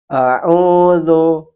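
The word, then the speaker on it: أعوذ: Huruf zal sering dibaca seperti huruf za, za, dengan ada suara tambahan berdesis. Padahal huruf zal tempat keluarnya adalah ujung lidah menyentuh gigi seri bagian atas dan lidah sedikit keluar tanpa dikeluar nafas, tanpa keluar nafas. Jadi dia dibaca lembut. Lu, lu, lu. Kita contohkan yang benar. A'udzu, a'udzu.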